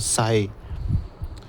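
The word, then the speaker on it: ψ: ठीक है, उसके बाद इस लेटर को कहते हैं, हम ऐसे लिखते हैं और इसको असल में प्रोनाउंसिएशन में ऐसे होता है साई।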